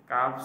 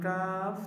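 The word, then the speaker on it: كاف: সহজে চিনবেন যেটা কাফ এটা সিম্পলভাবে উচ্চারিত হবে তারপর আম জেনে উচ্চারণ স্থানটা কিসের মত? জিহবার গোড়া থেকে একটু আগে আগে বাড়িয়া তারপর উপরে তালের সঙ্গে লাগাইয়া।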